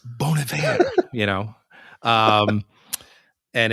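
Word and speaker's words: Bon Iver: Uh, Bonav is his that's how you pronounce it. The name Bon Ivor. It's not Bon Ivor. It's Bon. It's like Bon Joy. Bon Ivor. It's Bonav, you know.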